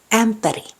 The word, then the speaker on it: ämpäri: The front vowel A is pronounced like the A in cat, but more fronted. The tongue is positioned near the front of the mouth. So it's A. Ämpäri.